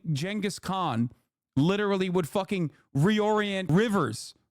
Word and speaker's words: Genghis Khan: Genghis Khan is how you say it, you fucking idiots.